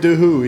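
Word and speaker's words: Choi Doo-ho: Choi Dooho? Is that how you say it? Choi Dooho, yeah.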